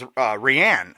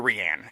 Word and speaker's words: Rhiann: I always thought it was Rhiann. Is that true or not? Rhiann. It is Rhiann. That's what I thought.